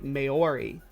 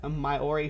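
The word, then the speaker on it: Māori: So, Sumami, the way that I learn my English is that if there's an umlaut over the A, and the A says its name, so I say Maori.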